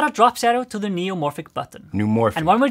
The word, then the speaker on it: neumorphic: Neomorphic. Say new? New. Now say morphic.